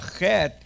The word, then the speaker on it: chet: Now a chet is a very strong guttural. Say with me, chet. And a chet is pronounced in the back of the throat on top. Chet.